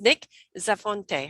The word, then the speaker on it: Nick Zafonte: hope will be joining is work permits is nick zafonte how am i pronouncing that right yep that's right it's wonderful